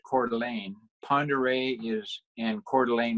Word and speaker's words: Coeur d'Alene: Coeur d'Alene Lake is where my office is at, pronounced Coeur d'Alene.